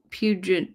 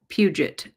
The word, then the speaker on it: Puget: Angela says, "Not not Pu Pugent, but Puget, lol."